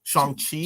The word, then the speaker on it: Shang-Chi: Wait, how do you pronounce it correctly? Shang-Chi.